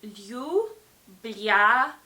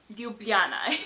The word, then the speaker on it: Ljubljana: So yeah, the capital is Ljubljana, and you would pronounce it Ljubljana. So Ljubljana is the right pronunciation.